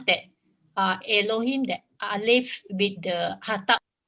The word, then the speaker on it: Elohim: Can you please repeat how to pronounce that Elohim, that Aleph with the Hatap? Hataf Segol, is Elohim, Elohim. Very, very short, very short.